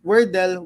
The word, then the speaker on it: W3rdle: the project um you can pronounce it the same way but with a spin of web3 so it's for Adele so that that web 2 game is is wordel with A3 yeah web3